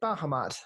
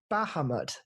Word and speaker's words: Bahamut: Is it Bahamut?